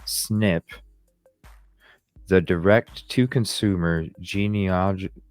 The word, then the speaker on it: SNP: called single nucleotide polymorphisms SNP pronounced snip the direct to Consumer